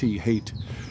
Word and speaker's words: Haight: As he loves to say, Haight Street spelled with H-A-I-G-H-T, hate.